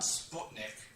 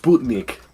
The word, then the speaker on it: Sputnik: It's pronounced Sputnik. It's Sputnik. But I know No, it's Sputnik. As a European, you're offending me with your American pronunciation.